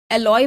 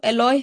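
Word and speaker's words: aloe: अगर या मुसब्बर को एलॉय बोला जाता है या आप कह सकते हैं जो एलॉय होता है उसको इस तरह से बोला जाता है एलो बस एलोवेरा एक अलग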